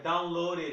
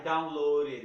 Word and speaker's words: downloaded: I downloaded it. I downloaded it. Tá bom, pessoal? Esses três casos aqui, o E é pronunciado.